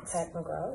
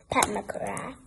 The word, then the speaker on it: Pat McGrath: Pat McGraw, yes. To say her name right, let's make sure we say all the things. McGrath. Pat McGrath.